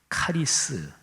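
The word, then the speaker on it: χάρις: 다르게 표현할 수 있습니다 여기에서 헬라어로 원어로 보면 은혜 라는 헬라어는 카리스 라고 발음 해요 보토 우리가 garry's 막아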